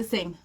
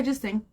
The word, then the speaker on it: Singh: say her last name how do you say that oh Sing Sing yeah just sing okay so on December